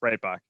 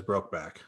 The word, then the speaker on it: Breitbach: How do you say your last name? Breitbach? Breitbach. Breitbach. Okay. That's over enunciated. Yes, Breitbach. All right. I only say that because I've always only said your name like over pronunciated as Brokeback or Breakback.